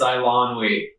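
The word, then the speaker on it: Eilonwy: I lon we, I believe is how you say it. I think it's Ilonwy. I finally got it.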